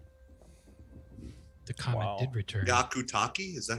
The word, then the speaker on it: Hyakutake: Hyakutake?